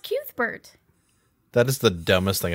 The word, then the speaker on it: Cuthbert: Yes, it's pronounced Cuthbert.